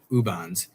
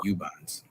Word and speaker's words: Ubons: I thought it was Ubons. No, she's been politely for years letting me pronounce it Ubons, and it's actually Ubons.